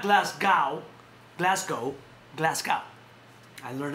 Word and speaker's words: Glasgow: There's a fight this Saturday in Glasgow, not Glasgow, Glasgow.